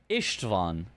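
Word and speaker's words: István: The S is pronounced more like a short SH sound. Ishtvan.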